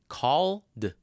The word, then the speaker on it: called: What's the ending sound? The final sound is l, right? And that's a voiced sound. So all we have to do is add, that's right. All we have to do is add d. Called. Called. Called. He called me yesterday. Called. Not called. Called. No extra vowel.